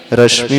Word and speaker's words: रश्मि: रश्मि में श जो है तालव्य है।